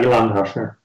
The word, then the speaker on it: Ilan Tochner: Next to me on the couch here, I've got Ilan Tochner from, I'm never sure I pronounced it right. Is that right, Ilan? Yeah, Ilan Tochner.